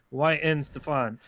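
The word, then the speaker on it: Weihenstephan: i can't pronounce i i looked up how to pronounce this beer is why in stefan but uh the brewery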